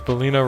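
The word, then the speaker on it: Belleza: my god it's funny because bellino rhymes with selena since selena gomez oh my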